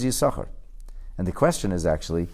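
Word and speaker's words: Issachar: you see you sucker spelled with two shins the two sins now there are those who mispronounce this purposely especially polish in the quality of Oscar but that's not the name the name is you sucker and the question is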